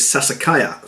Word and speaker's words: Sassicaia: finish says it was a name I couldn't actually say until I researched it online and then found out how to say the name which is Sassicaia so myself well about